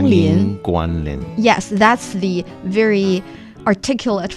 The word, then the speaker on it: 欢迎光临: You say 欢迎光临.